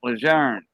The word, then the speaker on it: Lejeune: camp lejeune camp lejeune i'll say june it's countless years that's how you say it it's french camp lejeune it was named after